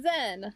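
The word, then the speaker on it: Zhen: It sounds like Zane. Zen! Like, you know, a Zen garden.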